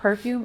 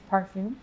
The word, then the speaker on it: parfum: It's not perfume, it's parfum. You can say Parfum. parfum. Parfum. Parfum That's concentration. the correct term. I would say so. Parfum. I'll be like, oh, excuse me, what parfum are you using?